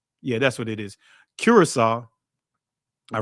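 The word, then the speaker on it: Curaçao: Curacao. All right? Cuz I always butcher when I see that C, I want to say pronounce this as a hard C, but it's actually Cura- uh Cura- Curacao.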